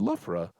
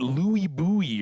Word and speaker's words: Loughborough: And he's like, "No, I'm just curious how you pronounce that word." And I said, "Loughborough." And he's like, "I can't. I've asked people before, and they call it Louis Bowie or something."